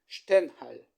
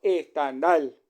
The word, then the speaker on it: Stendhal: lo que era alemán, entonces habría que pronunciarlo en alemán, habría que decir Stendhal y no Stendhal, porque Stendhal suena como